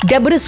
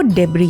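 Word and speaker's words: debris: अब जैसे देखिए ना आप डेबिस बोल देते हैं कई लोग। लास्ट में एस है वो डेबरी है।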